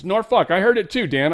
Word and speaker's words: Norfolk: She's like, "It's pronounced Norfuck."